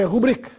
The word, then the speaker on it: república: modas caldas e república quanto essa última palavra tome cuidado com a sua pronúncia pois já houve muita gente falando brinca por aí a palavra república tenha sido a tônica